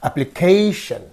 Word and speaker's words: application: This is the suffix, the preceding syllable is this, therefore this receives the stress. Therefore you have to say application.